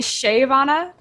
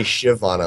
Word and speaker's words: Shyvana: I say it Shyvana, and I'm told that's wrong. I say Shyvana like a shiv, like I'm going to stab you with a shiv. Not Shyvana?